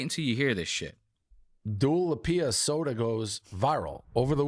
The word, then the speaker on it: Dua Lipa: This little headline that they're going over on this podcast is Dua Lipa, not Dua Lipa, Dave.